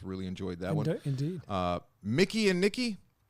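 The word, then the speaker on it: Mikey and Nicky: Mickey and Nikki, even though it looks like it's spelled Mikey and Nikki.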